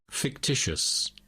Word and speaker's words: fictitious: a word fictitious fictitious so the last I is silent fictitious I I sect fictitious